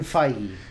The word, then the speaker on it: Feige: So apparently Kevin Feige. Kevin Feige. Rhymes with Feige.